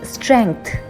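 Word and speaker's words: strength: Usually this word स्ट्रेंथ is miss pronounced. The letter ji is kept silent where as इन the correct pronunciation the letter ji is also pronounced. So इट्स स्ट्रेंथ।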